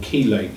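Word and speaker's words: chelate: some companies do they will chilate them or keate is is is the other pronunciation chilation or kation um and what what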